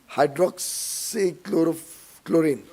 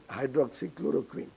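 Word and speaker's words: hydroxychloroquine: There was also that hydroxychloro chlorine. Hydroxychloroquin. Well, world leaders couldn't pronounce it properly.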